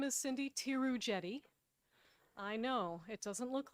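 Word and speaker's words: Theroux-Jette: her right chairman pearson my name is cindy tirujeti i know it doesn't look like that t-h-e-r-o-u-x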